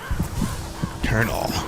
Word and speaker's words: colonel: English corporal thank you I'm an English lieutenant colonel but Colonel why is it spelled gol Oh and L it's pronounced colonel kar na l don't get it